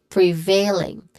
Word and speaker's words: prevailing: The stressed syllable here is the second syllable, veil. So we say it as prevailing.